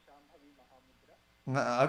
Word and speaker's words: Shambhavi Mahamudra: I don't know if how do I pronounce that? Yeah, you did it right. Shambhavi Mahamudra.